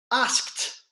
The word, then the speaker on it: asked: carefully for this one asked asked it's got a peep sign to it asked I'm the last